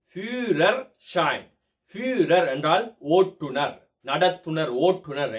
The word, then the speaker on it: Führerschein: நாம் அனைவரும் ஃபீரோஷைன் ஃபீரோஷைன் என்று சொல்லிக் கொண்டிருக்கின்றோம் அல்லவா, அதனுடைய சரியான உச்சரிப்பு ஃபியூரர் ஷைன்.